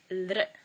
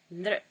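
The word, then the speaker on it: ऌ: It's very seldomly used, and there's not really an English equivalent for it, but it sounds something like this: lr, lr, revelry, lr. Now we go on to a, as in 8, a.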